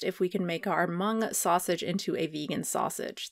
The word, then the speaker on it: Hmong: Chef Yia Vang on why he won't change his father's Hmong, or no, sorry, I think it's Hmong. I think the H is silent.